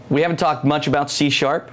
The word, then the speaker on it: C#: Okay, so C#, it's pronounced C#, and that's why I keep saying C#. It's interesting we have that on the slide. It looks like C pound is why.